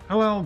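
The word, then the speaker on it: Helel: Hillel, by the way, is the more accurate pronunciation of Satan's name if Isaiah's rebuke to the Babylonian king has a dual meaning.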